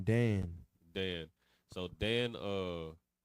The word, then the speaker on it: Dan: But Dan, you know what I mean, just for the sake of the breakdown, Dan in the Hebrew is pronounced Dan, right?